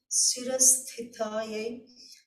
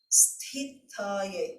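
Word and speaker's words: स्थूलसूक्ष्मकारणा: The 591st name, Sthūla-Sūkshma-Kāraṇa, for the pronunciation, it is the middle sa, it's not sha, it's not sa, but sa, sira, the ha with the dot, there is a stress, sira, Sthūla-Sūkshma-Kāraṇa.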